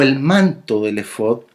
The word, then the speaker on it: efod: fonética hebrea original, porque así es como se pronuncia, efod.